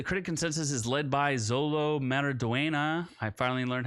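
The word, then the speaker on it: Xolo Maridueña: well uh the critic consensus is led by Zolo maraduena I finally learned how to pronounce his name magnetic performance in the title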